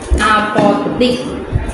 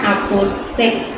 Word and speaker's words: apotek: Selanjutnya itu ada juga apotik. Nah, ini juga ketukar lagi sama huruf E. Harusnya apotek.